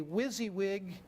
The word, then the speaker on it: WYSIWYG: typically employ is what we call a WYSIWYG interface that's that's how we pronounce that it stands for what